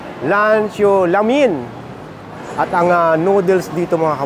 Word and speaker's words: Lan Zhou La Mien: tayo sa grand 1919 ito siya ang pronounciation dito ay lano lamin at ang noodles dito